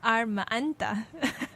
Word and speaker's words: Maanta: With us, of course, is Maanta. I have to emphasize the Arabic pronunciation of it because it's so cute.